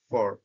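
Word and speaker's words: for: এরপরে রয়েছে ফর, ফরটাকে তারা খুবই দ্রুত উচ্চারিত করে, ফার, ফার, ফার।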